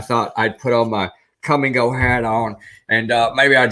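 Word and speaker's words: Kum & Go: For those of you who don't know, Come and Go is a gas station.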